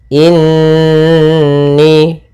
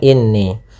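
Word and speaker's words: إني: inni ID lafialim mubin pada bacaan inni yang pertama ada hukum gunah pada lafal Nun yang bertasdid maka cara membacanya kita tahan dulu surah nnya duaan atau dua harakat in baru kita baca ni jangan langsung inni Kemudian pada lafal ni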